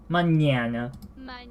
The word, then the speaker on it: mañana: but not quite mañana it isn't it is a much more nasally and than the normal end mañana mañana mañana so you can hear it in the wind so yeah it's not nunna it's not mañana it's mañana mañana but the a the whole time is the same a sound but the character before